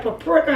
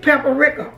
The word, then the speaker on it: paprika: Some people say paprika. How and some people say peppera. Okay, whatever you prefer is fine.